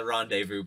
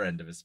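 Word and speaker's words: rendezvous: tale they were obsessed with getting to the Rondevu point and I had never read that word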